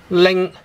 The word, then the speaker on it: 零: Right, so how do you pronounce the word 零? Ling. Again in tone 1, ling.